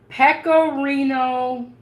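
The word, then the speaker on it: pecorino: I made the spaghetti yep okay okay it's pcoo Romano cheese okay it's spelled p e c o r i n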